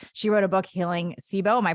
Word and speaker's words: SIBO: gut healing space she wrote a book healing sibo my pronounce that right CBO yeah you got it we could do a